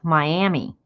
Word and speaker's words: Miami: about 30 miles but the Florida one calls itself Miami in Oklahoma they pronounce it Miami don't know why spelled the same everything is the same but they say Miami foreign for you I